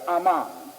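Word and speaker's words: Amman: land of ancient Moab is Aman not Ammon but Aman they spell it somewhat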